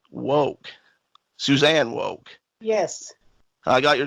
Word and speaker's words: Suzanne: right now is the CEO of cell hound Susan woke Suzanne woke yes I got your name wrong I knew I was more worried about